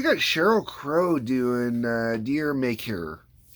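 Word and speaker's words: D'yer Mak'er: Sheryl Crow doing uh deer maker most people say Dyer maker uh the band has said that's not how it's pronounced uh I'm sure what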